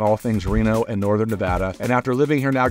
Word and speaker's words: Nevada: to live here and how to say the word Nevada properly it is said Nevada only say Nevada like d-u-h at the end in the pros and